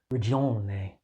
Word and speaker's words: Ragione: Horses is a 2025 video game developed and published by an Italian game production studio Santa Ragione. Did I pronounce that right? Ragione.